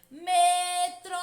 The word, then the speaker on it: metrô: tônica da palavra metrô basta pronunciar lentamente essa palavra como se estivesse chamando alguém metrô percebam que a sílaba que mais demora a ser pronunciada é Tron metrô portanto tro é a sílaba a tônica sílaba turma as sílabas throw é a última sílaba da palavra metrô portanto a palavra metrô é uma palavra oxítona Porquê tia Porque